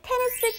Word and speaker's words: 테니스: And the response was, 저는 테니스 치는 거 좋아해요. I like playing tennis. Now, tennis phonetically in Korean is 테니스, 테니스. 테니스?